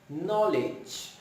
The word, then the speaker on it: knowledge: K and N, in which K is silent and we make the sound of N. Here are the examples: knife, night, knowledge, knives, knock, knee, and no.